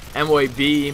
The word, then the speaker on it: MOAB: I have an L86 MOAB, MO.A.B, MOAB, whatever you want to call it. I've actually said it all three different ways, and each time somebody still feels a need to comment saying that I pronounce it wrong.